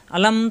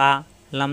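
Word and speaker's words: أَلَمْ: আলাম তারকাইফা রব্বুকাবিহাবিলফ আ এটা আলিফ আলিফে হরকত আসলে হামজা হয়ে যায় হামজা জবর আ লাম জবর লা লাম এলবে মিমের সাথে আমরা জানি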